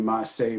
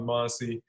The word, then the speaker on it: Monseé: It's spelled S-E-E, but it's pronounced Say. So a lot of people call me Monseé.